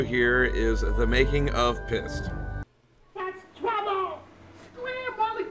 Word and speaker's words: Pyst: It's pronounced Pyst. Okay? It's pronounced Pyst. Whoa! I'm pissed. P-Y-S-T. It rhymes with heist.